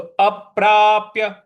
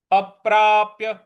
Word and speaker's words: अप्राप्य: तो अप्राप्य अप्राप्य इस प्रकार से बोलेंगे।